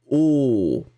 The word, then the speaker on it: os: Donc, le même mot, mais qu'on va prononcer au singulier os et au pluriel os. Hein, donc le S n'est pas prononcé et le O est beaucoup plus grave.